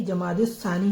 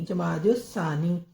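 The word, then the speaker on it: جمادى الثانية: अब यह जो तीसरा महीना होता है य जमाद सानी होता है तो यह इसको खाली महीना भी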